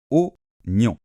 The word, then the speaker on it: oignon: Onon alors faites attention le G et le n en français hein ça fait comme ça gne gne gne et à la fin on a une nasale on qui ressemble un peu à la lettre O mais en nasale plus au niveau du nez on on on avec les lèvres arrondi on donc aunon OK et